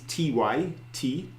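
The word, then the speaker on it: tŷ: said the other week don't knock the Welsh we might not always pronounce all our letters but we've got more vowels than most because house is Ty and then TAA so see lots so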